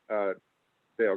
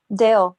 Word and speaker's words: Dal: saying about how close Dale got. Isn't it Dale? Isn't Dale the correct pronunciation? Dale, yeah. Yeah, everybody calls him Dal because it looks like Dal, but it's actually Dale.